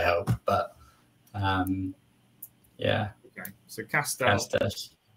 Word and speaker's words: Castell: The easiest one probably is maybe Castell. It's close to Castle.